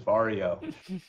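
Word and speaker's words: Varjo: bigger now and they want to make sure people know their name is vario so it's part of the way it's spelled so they had a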